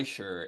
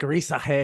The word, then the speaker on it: Risacher: Yeah, I think Risacher. I'm gonna see how many times I can do the French pronunciation of his name.